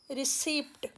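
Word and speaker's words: receipt: रिसीप्ट, ये तो बहुत ही कॉमन मिस्टेक है, इसमें प साइलेंट है।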